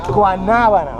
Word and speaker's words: guanábana: Guanábana. Okay, pronounce it guanábana.